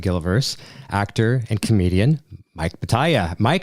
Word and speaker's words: Batayeh: First time here Inside the Gilliverse, actor and comedian Mike Batayeh. Mike, how are you? Hello, everybody in the Gilliverse. Did I get the pronunciation right? I hope I did. Did I do it right? Batayeh, yes, you got it right.